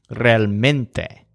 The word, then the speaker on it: realmente: to English words but in each case the stress is on the syllable that sounds kind of like mint realmente exactamente on the statues